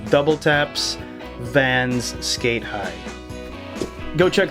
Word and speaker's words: WTAPS: double taps is spelled that's WT ApS W taps too many but for the learn it few it's double taps because that's how the designer wants it to be pronounced the designer